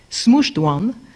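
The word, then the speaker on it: SMCHD1: difficult name to pronounce so I will say smooshed one SMC HD one smooshed one is the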